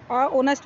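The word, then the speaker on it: honest: My mother is ऑनेस्ट, ऑनेस्ट woman नहीं, यहाँ पर एन आएगा क्योंकि ऑनेस्ट ओ से शुरू होता है, एच साइलेंट है इसमें।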